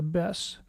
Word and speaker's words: BESS: Since we can pronounce it, we do. We call it a BESS.